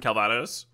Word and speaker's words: Calvados: You're supposed to pronounce the S in Calvados, didn't I?